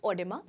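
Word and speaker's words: oedema: they say doctors okay it is pronounced as odima and in this what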